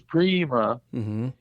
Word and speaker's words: Prima: in my research that even though the correct Italian pronunciation is Prima, he you know the South, you know New Orleans people. Yes. Yeah. They don't talk too good, as Right. Mac Rabanak would say. And so Louis pronounced his own name Prima.